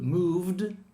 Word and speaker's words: moved: But moved is a D.